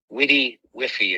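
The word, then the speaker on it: WDYWFY: y w f y witty whiffy is how that's pronounced what do you want for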